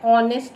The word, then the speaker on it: honest: An honest man. The same case over here also the word begins with H but the sound is coming of O. H is silent.